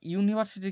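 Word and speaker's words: university: ইউনিভার্সিটির ক্ষেত্রে এ বসবে। কেন বসবে? তার কারণ উচ্চারণটা হচ্ছে গিয়ে কনসোনেন্ট সাউন্ড দিয়ে।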